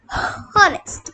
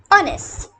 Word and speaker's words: honest: And K in kneel, H in honest. You know, honest. It's not honest, it's honest.